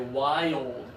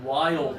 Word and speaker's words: wild: But what they're trying to say is they have a wild animal that lives in the forest, okay? A wild animal. And so you have to slow it down, divide it into 2 syllables.